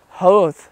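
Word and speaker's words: Howth: But anyways, we're in Hoth right now. Which is spelled like Hoth, but with a W. H-O-W-T-H. And it is really pretty.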